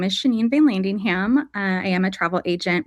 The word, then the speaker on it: Vanlandingham: Vanlandingham.